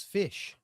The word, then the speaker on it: Phish: followed a band, and the band's name was Fish. I don't know if you heard of this band Fish. It's spelled Phish.